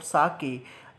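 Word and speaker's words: sake: यानी उसका फादर ये बोलता है कि काश में एक जो लिक्विड, यहाँ पे एक लिक्विड है जिसका नाम है साके, इसको साके प्रोनाउंस करेंगे, तो वो बोलता है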